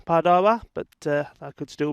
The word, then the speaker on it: Padova: and roma and pardova i'm told it's pronounced padawa but uh i could